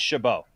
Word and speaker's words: Chabot: Is it pronounced Chabot or yes? Chobot? No, it's Chabot.